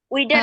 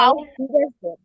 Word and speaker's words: Auf Wiedersehen: উইডার না আপু, Auf আউভিডারজেন। ভ ভ উচ্চারণ হবে আউভিডারজেন, হ্যাঁ, আউভিডারজেন।